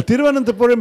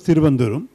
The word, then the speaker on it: Thiruvananthapuram: The very formal name is Thiruvananthapuram, but even in Malayalam, no one used to call it that until now. It's become sort of part of the law of the land. The short colloquial expression was Thiruvanduram, and Thiruvananthapuram was considered very affected and very, very formal.